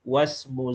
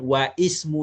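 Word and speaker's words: واسم: Contohnya saya katakan ismi wasmu zaujati syifa di ismi. Nama saya bukan wa ismu zaujati. Wasmu. Terus wasmu itu cara membacanya begitu.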